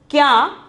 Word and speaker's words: क्या: Then for the second one is kya. The pronunciation is kya.